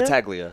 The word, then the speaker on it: Battaglia: Battaglia. Okay. Yeah, not a soft G.